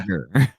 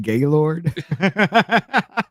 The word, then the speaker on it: Geiger: Spelled Geiger, pronounced Yeah. Geiger. And I called him Gaylord.